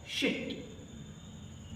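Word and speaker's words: sheet: देखेंगे तो क्या है, शिट। इसका प्रोनाउंसिएशन है शिट, एंड इससे पढ़े तो शीट। इट्स शीट। That means एक लॉन्ग बोलना होगा, एक लॉन्ग वॉल्यूम आता है बोलते समय, शीट।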